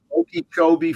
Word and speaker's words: Okeechobee: the, oh yeah, give me this kind of Okeechobee Cowtown Rodeo, Okay. Okeechobee, Florida. I think I pronounced that correctly.